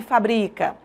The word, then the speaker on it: fabrica: Em fábrica é um substantivo, a palavra é acentuada. Em fabrica eu tenho uma forma verbal e a palavra não é acentuada. Você percebe a mudança de pronúncia e a mudança de sentido.